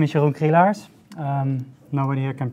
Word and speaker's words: Jeroen Krielaars: internet magician prison before so my name is yogge hey Lars nobody here can pronounce it but they do the best I'm